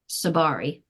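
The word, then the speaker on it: Tsabary: collaborates with Dr shafali seberry did I pronounce that right how do I say that sabari but you could even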